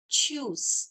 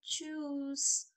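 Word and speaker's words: tschüss: juice means bye bye choose here t and s is the silent you're not going to speak this to use you're going to say choose and here you are going to pronounce the ch not choose choose choose okay choose you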